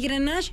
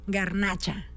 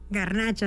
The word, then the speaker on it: garnacha: variad de uva y grenach se escucha muy Fashion no pero déjame te digo que en español esta uva se pronuncia garnacha garnacha así tal cual como las quesadillas como la fritura y es una uva